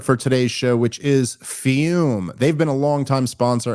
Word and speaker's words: Fum: show which of course is fume pronounced fume but spelled Fu M flavored air isn't like